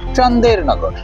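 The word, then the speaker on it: Chandernagor: কিন্তু মূল ফ্রেঞ্চ ভার্সনে ছন্দ মেলাতে গিয়েই প্রফেসরের বলা সেই জায়গাটার নাম হয়ে যায় চন্দননগর যদিও এক্স্যাক্টলি চন্দননগর নয় ফরাসিদের উচ্চারণ অনুসারে চান্দেরনগর পৃথিবীর এত নামী অনামি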